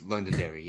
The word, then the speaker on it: Londonderry: He's the owner of I'm assuming is it New Hampshire Float, but NH Float in Londonderry. Is that how I pronounce it? I hope so. It is Londonderry, yeah.